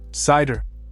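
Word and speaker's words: CIDR: C pronounced cider is the modern flexible way of assigning IP addresses.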